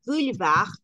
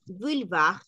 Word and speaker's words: boulevard: diferente y la palabra Boulevar o en francés bulv Boulevard bulv es una palabra vamos